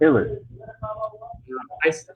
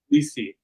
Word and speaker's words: Ulysse: I pronounce it Ulysses. I say my name is James Ulysse, but uh, but Ulysse. but other people in my family they'll say Ulysse or Ulysse. So there's multiple ways to Uh-huh. pronounce Just can you lay them out? it. Sure, you can say Ulysse, Ulysses, Mhm. Ulysses, Ulysse. Yeah, yeah. Okay, okay. In French, it's And Ulysse. Ulysse in French, yeah, in French it's Ulysse.